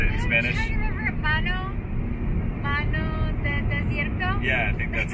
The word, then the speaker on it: Mano de desierto: Mano de desierto?